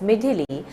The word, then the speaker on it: Midhili: has intensified into a cyclonic storm named Midhili, pronounced as Midhili, according to the latest national bulletin issued at 5:30 hours IST on 17 November 2023.